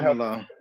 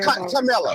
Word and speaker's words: Kamala: Now, Rose, if Kamala does not win, any of the shit that Trump is trying to push, is it going to affect her? Kamala.